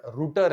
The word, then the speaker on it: router: यूज करते wifi राउटर, हालांकि word राउटर नहीं है, वो वर्ड रूटर है, बट हम उसको राउटर बोलते हैं, रास्ता दिखाने वाला रूटर, ठीक है। हम उसको प्रोनाउंसिएशन करते समय राउटर बोलते हैं, बट गलत नहीं है, सब लोग राउटर बोलते हैं तो हम भी राउटर ही बोलते हैं, ठीक है।